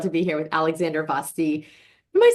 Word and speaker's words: Vasti: be here with Alexandra Vasti. Am I saying that right? So my family pronounces it Vasti, like Yes. rhymes with nasty, which regrettably, alas, is the only word in English that rhymes with Vasti.